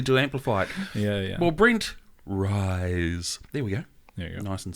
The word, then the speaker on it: Ruys: are you y yeah it's like guys oh yeah okay that